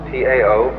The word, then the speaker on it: Tao: So their principle of nature is called the Tao, T-A-O, pronounced Tao in the Mandarin dialect, Tao in the Shanghai dialect, To in the Cantonese dialect.